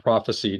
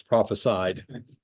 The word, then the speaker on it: prophesied: pronounce words correct correctly it's not prophecied it's prophesied Jerusalem and the kingdom